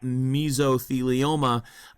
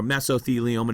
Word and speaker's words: mesothelioma: breathed into your lungs, you can get mesothelioma or mesothelioma, depending upon how you want to pronounce it.